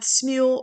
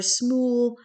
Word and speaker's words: Smule: i'm most familiar with smule or smool however you want to pronounce it here's your feed which